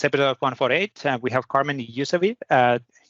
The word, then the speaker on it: Ysewijn: Anyway, today on this episode 148, we have Carmen Ysewijn. What was the right pronunciation? Ysewijn, thank you. Ysewijn, thank you.